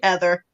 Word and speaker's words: Heather: Heather Lynn, when you were in elementary school, it would annoy you when the kids would pronounce the R in Heather.